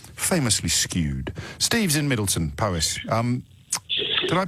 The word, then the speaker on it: Powys: Steve's in Middleton, Powys. Did I pronounce that correctly? Powys, yeah.